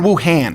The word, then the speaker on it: Wuhan: Is it Wuhan or Wuhan?